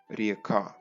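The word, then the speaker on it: рѣка: Old East Slavic RĚKÁ where Ě is pronounce as a long E or a diphthong IE: RIEKA That's how we got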